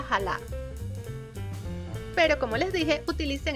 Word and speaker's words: chala: este es el nombre se escribe chala pero creo que se pronuncia jala pero como les dije